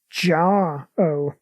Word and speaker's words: Jarro: I think I find it's pronounced Jar-O. Ah, right. Yeah, that makes sense, because that makes his real name Starro.